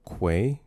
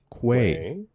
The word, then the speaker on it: quay: Quay. Mhm. Quay. Not key. I don't know who says key.